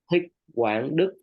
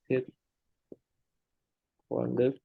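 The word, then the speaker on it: Thích Quảng Đức: Thích Quang Đức. Let me type for you. Dick Wang Duk. Mm-hmm. Yeah, Thích Quang Đức.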